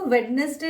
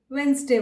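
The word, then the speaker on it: Wednesday: वेंसडे, इसको वेडनेसडे ना बोल के वेंसडे बोलिए।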